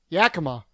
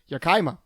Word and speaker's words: Yakima: of yakima in it yakima or as people who don't know how to say it yakaima yakima yakima that's not